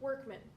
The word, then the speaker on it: Workman: Workman. Okay, yeah. Said workman, spelled workman.